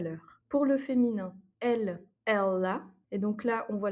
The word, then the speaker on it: ela: À noter aussi que la prononciation du L est un peu dans la gorge. C'est pas simplement ella, mais ella.